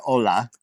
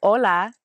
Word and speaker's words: hola: why or what uh we don't pronounce the h ever I don't think so